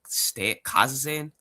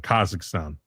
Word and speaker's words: Kazakhstan: Okay, pronounce number four. Kaz what the Kazakan. Kazan. Yeah, you almost got it. Kazakhstan.